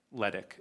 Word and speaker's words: Ledick: newer members, Randy or Randall Ledick is how you pronounce his last name.